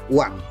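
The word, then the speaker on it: Oeang: ini disingkat ori ya ini masih pakai ejaan lama anda sekalian ya tulisannya oe Ang dibaca uang ya uang Republik Indonesia Nah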